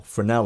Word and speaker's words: Fresnel: Now this is a typical Fresnel light. The S is silent.